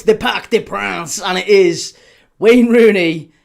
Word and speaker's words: Parc des Princes: I can't even say it with a French or a French accent. The Parc des Princes. Uh you've got to say it like that. Doesn't count otherwise. You can't say Parc des Princes.